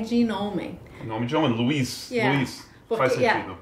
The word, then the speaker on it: Louise: É Luiz, mas não... é um nome francês, mas também bem americano. Luiz.